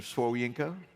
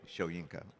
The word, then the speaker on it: Soyinka: remember in the mail it's Mr sworienko it's Wale shoyinka by the way but I know how to say it and he said